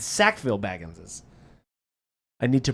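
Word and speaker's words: Sackville-Baggins: Sackfield. I don't know what he's talking about. I love that you all thought I was saying sackfield. It's sackville baggines.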